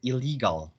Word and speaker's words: illegal: however okay illegal illegal okay again the pronunciation of l okay your pronunciation with l and r okay yes illegal illegal yes and then r r r r okay l l okay so could you